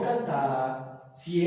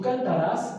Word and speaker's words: cantaras: Y repito, noten lo del acento para que no lo lean mal, ¿no? Que no digan, si tú cantarás, no, que dice si tú cantaras, ¿ok?